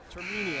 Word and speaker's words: Termini: How do I pronounce it the correct way? I'm sorry. Termini.